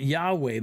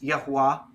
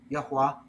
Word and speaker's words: Yahuwah: right so you're saying not yahweh but something else why is that well i'm just pronouncing it the way it typically shows up in the hebrew bible which is yahuwah yahuwah and that is a